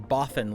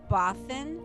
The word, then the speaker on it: Bothan: No, it sounds like you're saying Boffin, like many Boffin spies died to bring us this information, and that's not right. Oh. It's B-O-F-F Boffin. Oh, Bothan?